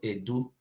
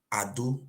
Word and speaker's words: Edo: our land is called it's not Edo boy it's called Ado we don't know how